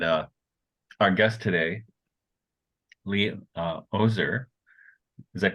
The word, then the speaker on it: Oser: William Shakespeare and uh Our Guest today uh ozer is that correct pronunciation for your last name yes sir uh